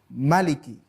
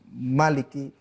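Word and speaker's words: مالك: jangkrik itu membacanya pendek Maliki tidak Maliki Hai namanya varian bukan perbedaan Hai istilahnya adalah multiple reading perbedaan dalam pengertian varian bacaan kita boleh membaca dengan Malik panjang atau Maliki dengan bacaan pendek Hai nah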